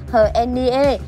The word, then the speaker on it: H'Hen Niê: 2017 thì đều biết tên của tân hoa hậu được đọc là Hờ hen ni e, và đây cũng là cách đọc chính xác nhất theo tiếng Ê Đê.